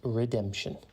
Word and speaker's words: redemption: time today's word is redemption it is pronounced Redemption and it is spelled r e d e m p e t i o n think red as in the color EMP and then tun Redemption has two meanings